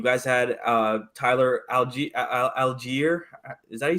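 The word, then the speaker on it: Allgeier: like uh you guys had uh Tyler algae algier is that you say his name perfect yeah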